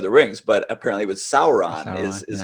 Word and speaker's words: Sauron: otherwise no one would i mean people would pronounce it any way they want to i remember i used to always say uh saran for the the the dark lord in lord